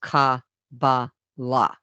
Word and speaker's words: Kabbalah: But a couple things stood out to me, and one of them was the word Kabbalah actually, meaning being pronounced Ka-ba-la.